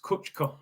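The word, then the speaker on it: Kucka: happened for six minutes it's pronounced kuchka okay my bad my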